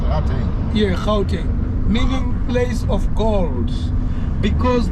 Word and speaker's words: Gauteng: Out there, you pronounce it out there. Yeah, Gauteng, meaning place of gold.